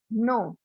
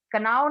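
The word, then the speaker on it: know: Next है नो, नो, के, कनाव नहीं बोलते इसको, बल्कि इसमें के, इसमें दो लेटर इसमें साइलेंट है, के भी साइलेंट है इसमें, और डब्ल्यू भी साइलेंट है, इसको पढ़ेंगे नो।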